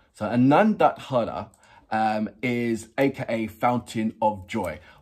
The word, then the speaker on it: Anondodhara: Anondodhara. So Anondodhara is aka Fountain of Joy.